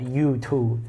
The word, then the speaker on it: Yutu: So, the toad is exchanged later for a Jade Rabbit or Yutu is how it's pronounced in Chinese, which will come up later.